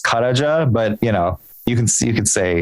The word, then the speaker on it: Karaca: do you pronounce it karaja so um okay sorry in Turkish the C is like a j so it's karaja but you know you